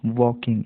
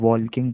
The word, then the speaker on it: walking: इसको वॉकिंग पढ़ा जाता है, कई लोग वॉल्किंग पढ़ते हैं क्योंकि यहाँ पर जो स्पेलिंग दी हुई है WALKING इसके हिसाब से वॉल्किंग, जबकि L साइलेंट है इस वर्ड में। ठीक है, तो इसका प्रोनाउंसिएशन होगा सही वॉकिंग, WALKING वॉकिंग। ठीक है, आगे बढ़ते हैं।